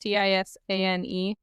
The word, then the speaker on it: tisane: This is Home and Hearth Tisani tea, I think is how it's pronounced. Tisane. Or Tisane if you're American. I'm going to say Tizan.